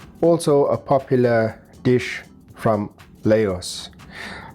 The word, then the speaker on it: Laos: a popular dish from Laos. I'm told that it's pronounced as Lao, but it's spelled Laos.